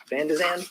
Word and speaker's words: Van de Zandt: Ms. Van de Zandt, did I Yes. pronounce that correctly? Yes.